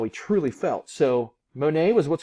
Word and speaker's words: Monet: that's him there claude monet the t is silent i want you to know that he was an impressionist